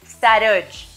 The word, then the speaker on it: Sarodj: Sarosh. Se escribe S-A-R-O-D-J, pero no soy DJ. La DJ es solo parte de mi nombre y el significado es así, primer rayo de luz.